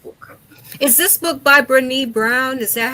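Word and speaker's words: Brené: Is this book by Brnee Brown? Is that how you pronounce her name?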